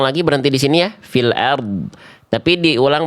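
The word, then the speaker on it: فِي الْأَرْضِ: Angkat pangkal lidahnya tebalkan huruf r-nya. Jadi yang tebal bukan cuman dod, tapi rnya juga ya. Kalau berhenti di sini boleh. Coba diulang lagi. Berhenti di sini ya. fil ard.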